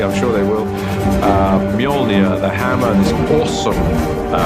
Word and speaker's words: Mjolnir: the hammer is to work out how to pronounce it um which is mjolnir uh in our movie at the moment until somebody corrects me i'm sure they will uh mjolnir the hammer is an awesome weapon for thor